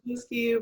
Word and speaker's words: Wasilewski: I'm super excited that Kyle Wasilewski, is that how you pronounce your last name now? Perfect. Wasilewski, but somewhere in there.